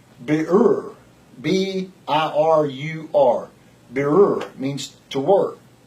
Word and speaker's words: birur: This work is, it's a hard word for me to pronounce. It's birur.